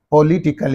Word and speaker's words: politically: means politically okay yes in this three syllables this suffix is there and therefore what is the syllable preceding the suffix means only this that's why you have to say politically politically you have to say